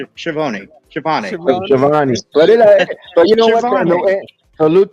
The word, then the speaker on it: Schiavone: So after the commercial break, we have Schiavone backstage with I keep saying his name wrong. Schiavone.